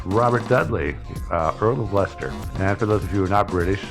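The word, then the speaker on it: Leicester: on our list Robert Dudley uh Earl of Lester and after those of you who are not British uh this is spelled this building yeah but it's pronounced Lester I really we gotta we gotta start a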